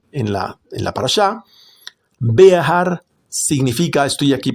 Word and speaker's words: Behar: Behar significa estoy aquí pronunciando la la he bear para aquellos que no están familiarizados significa montaña en la montaña. Be ar.